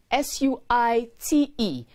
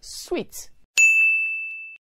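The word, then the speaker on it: suite: house or hospitality facility is spelled s-u-i-t-e and is pronounced sweet not suit s-u-i-t is pronounced suit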